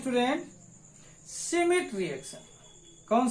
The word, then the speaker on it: Schmidt: यहां पर देखना सिमिट रिएक्शन। कौन सा रिएक्शन पढ़ रहे हैं अपन? सिमिट रिएक्शन, 4th नंबर का है।